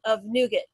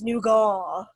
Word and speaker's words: nougat: then a layer of nougat. Unless you're in England, then it's nougat. They like to say, they use like the French pronunciation of nougat.